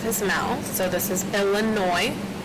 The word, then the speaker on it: Illinois: So this is Illinois. You do not pronounce the S at the end. It's Illinois.